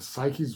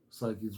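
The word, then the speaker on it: Saiki: gotta love her and psyche's voice I love psyche's voice um sorry I'm I just realized I'm mispronouncing around I'm doing her name too fast psyche not psyche psyche um her voice I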